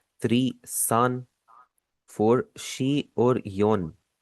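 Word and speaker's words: 七: यहाँ पर एक चीज आप नोटिस करेंगे, इसका जो बीच वाला ई है उसे मैं साइलेंट पढ़ रहा हूँ। तो आपने भी क्या करना है, आपने इसकी आवाज आपने नहीं निकालनी है, आपने इसे शीची नहीं पढ़ना, आप इसे पढ़ेंगे शी।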